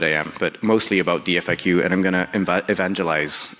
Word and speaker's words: DFIQ: note on pronunciation uh I pronounce this dfq if you try to pronounce it as a word you will get very interesting results so what's dfq it